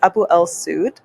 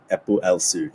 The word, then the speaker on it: AboEl-Seoud: So to pronounce in English is AboEl-Seoud. AboEl-Seoud. Yeah, okay. AboEl-Seoud. AboEl-Seoud. Yeah. Okay. Close enough. Okay. But in Arabic, it's AboEl-Seoud.